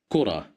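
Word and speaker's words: كرة: Here we have the letter kaf at the beginning of the word, and it's controlled by dhamma, which makes it pronounced like ku, kura.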